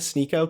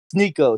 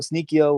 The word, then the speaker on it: Sneako: Sneako, Sneakio, whatever.